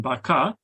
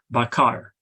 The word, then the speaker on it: bakar: In Sebutan Johor Riau, this R is silent, as in baka, and this silence is represented by the null symbol that you see on the table. In Sebutan Baku, this R is pronounced, as in bakar.